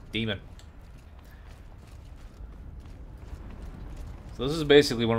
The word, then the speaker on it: daemon: heart of the daemon then stop calling it Damon I don't care how it's spelled it's pronounced demon so this is basically